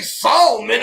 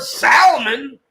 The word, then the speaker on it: salmon: do use the ale i've never heard about saul man of course i've heard salmon no never everybody says salmon that's like pronounces it that way a while back both pronunciations are actually acceptable they say salmon and sam well i won't accept